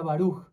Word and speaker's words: Baruch: Y cuando vi que él decía Baruch. Entonces se pronuncia, entonces él lo pronuncia como Baruch o algo así.